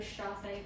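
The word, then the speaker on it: chassé: i know for example a chasse one of my uh instructors called the chase because one foot is chasing the other chasse that's how it's spelled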